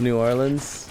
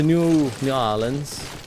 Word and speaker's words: New Orleans: next parade I need to go to Oh New Orleans nollans you see I had some friends that wanted wanted me to go with them this year to New Orleans New Orleans that's the thing when you go